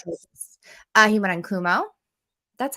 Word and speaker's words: Cuomo: He went on Kumo. That's how you say it, right? Kumo? Cuomo? Cuomo.